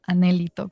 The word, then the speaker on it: anhelito: con muchísimo criterio que la palabra anhelito en realidad se pronuncia anhelito, con acento en la E.